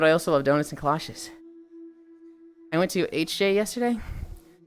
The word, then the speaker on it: kolache: Kolache? Yeah, kolache. That's what I said. Kolaches. Stop calling them galoshes. I did not pronounce a G. I said kolaches.